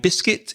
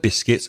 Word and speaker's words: biscuit: origin of the word biscuits and be careful of the pronunciation because the spelling as Reza said is a bit tricky B is cui T